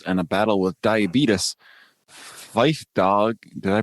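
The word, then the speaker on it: Phife Dawg: of health problems and a battle with diabetes fife dog did i pronounce that correctly you nailed it fife dog of a tribe called quest dies at age 45.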